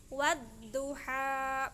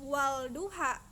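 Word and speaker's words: والضحى: Contohnya itu wadduha, bukan walduha tapi hilang alif lamnya, bacanya jadi wadduha.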